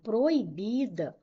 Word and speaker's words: proibida: O vocábulo proibida foi grafado incorretamente, pois deveria ser acentuado, já que o forma iato com i. Vamos lá. Proibida. Qual é a sílaba tônica? É o bi.